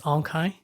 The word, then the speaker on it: Aung Khaing: names are quite unique and quite difficult to pronounce so my name is ankai and so the one i introduced to like